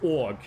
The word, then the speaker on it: og: In Norwegian, it's OG. OG is org, and that means and.